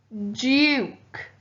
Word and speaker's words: duke: blue please and finally duke the magic e turned the o into the u sound prince william is